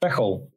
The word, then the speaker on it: Veghel: So you taught me how to pronounce that properly. I've been calling it Veghel. Veghel. There we go.